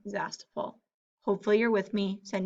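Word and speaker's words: Zastoupil: I only have one last name, and it is Zestapol. So I'm going to put here the letters and then pronounce like this, Z-A-S-T-O-U-P-I-L. And that's how I would pronounce spelling Zastapol.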